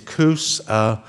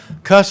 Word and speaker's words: Coos: The pronunciation is Coos. Cuss is what we do around here after we lose a bill in committee. So, Captain Coos, and ask for an aye vote.